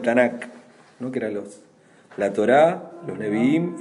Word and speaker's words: Torá: El nombre Torá, así, sin H, sin nada, es Torá, con acento en la A, significa instrucción o enseñanza, y esta es una palabra del ámbito del culto, ¿no?